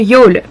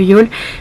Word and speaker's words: Youghal: La plage de Youghal, ça s'écrit Youghal, Y-O-U-G-H-A-L.